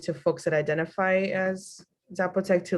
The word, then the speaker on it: Zapotec: they teach it to folks that identify as Zapotec, to like their children? Say the word again, because I'm mispronouncing it again. Zapata, say it again.